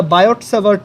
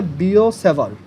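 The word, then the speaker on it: Biot–Savart: এটা বায়ট-স্যাভার্ট ল না, এটার উচ্চারণ হচ্ছে বিও-স্যাভার্ট, মানে টিটা বোথ কেজেই সাইলেন্ট। ফ্রেঞ্চ ওয়ার্ডের, ফ্রেঞ্চ নেম, বিও-স্যাভার্টস ল।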